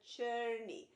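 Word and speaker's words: Czerny: and uh early intermediate i've always introduced the churny it's uh it's spelled c-z-e-r-n-y church and it's a composer that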